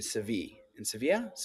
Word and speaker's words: Sevilla: And he was on a shoot in Sevilla. That's how you pronounce it in Spain.